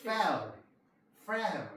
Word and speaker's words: Fehr: 캠프 종과 FEHR은 어떻게? fail 이렇게 발음하면 돼요.